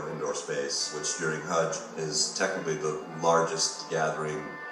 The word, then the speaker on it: Hajj: And half the challenge of completing your Hajj is getting all these rituals It's called Hajj. How do you spell it? H-A-J-J. Hajj.